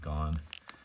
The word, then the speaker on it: Gon: So this is the letter's name is Gon, G-O-N. Pronunciation is the same, you know, like Gone Girl. So you might put an E at the end, Gone.